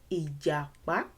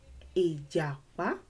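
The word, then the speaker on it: ìjàpá: Do, just know that however you say this, it has to align with do, do, mi, ijapa, ijapa.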